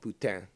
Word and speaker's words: poutine: There's nothing more sublime, so divine, than poutine, or poutine. English you say poutine, but in French it's supposed to be called poutine. But to me it sounds very similar to Italian for prostitute, puttana.